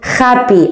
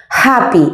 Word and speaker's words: happy: car coche happy feliz happy no decimos harp y acordamos que no pronunciamos jota no existe el sonido jota en inglés happy h aspirada sad triste y bici